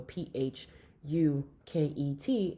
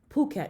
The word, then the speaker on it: Phuket: the word Phuket so pH u ket it's Phuket instead of Phuket because they don't pronounce the H and so you know